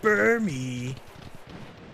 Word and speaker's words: Burmy: He goes, Burmy. And not anything that says burr in the beginning.